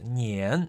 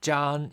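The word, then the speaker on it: 粘: In this context, the character Zhan is pronounced in the first tone.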